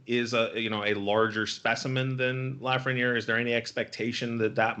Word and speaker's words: Lafreniere: Am I saying it right, by the way, Lafreniere? Lafreniere? Yep.